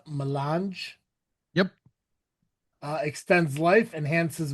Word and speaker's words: Melange: How is that pronounced? Melange?